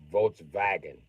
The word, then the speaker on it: Volkswagen: I also know you replace any German W with the letter V, because they do not have the letter W in their shit. It does not sound like W anyway. V sounds like the word you're looking for.